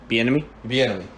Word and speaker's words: Bieniemy: Eric Bieniemy. Bieniemy.